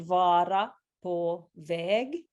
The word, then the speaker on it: Vara på väg: I wondered if firstly you could help us with the pronunciation of the title of the song. So it is called Vara på väg.